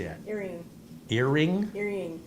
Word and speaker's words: Erying: Crying. Just change the E to a C. It's a crying. Did that. So if you pronounce crying, then if you just change a C to an E, it'd be.